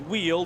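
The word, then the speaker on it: Wiel: Again, it is Xander Wheel, but he spells Wheel W-I-E-L. So it's not like the W-H-E-E-L, which is how it's pronounced, but W-I-E-L for Xander Wheel.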